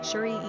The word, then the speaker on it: Cherie: Pronunciation, Cherie, S-H-R-E.